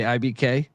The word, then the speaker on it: IBK: Ibik? Ibik Mafe. Yeah. Ibik? Is that IBK? You just say IBK like JFK.